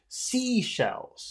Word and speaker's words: seashells: those two words is seashells you have to put all of the emphasis on the first word sea shells yeah can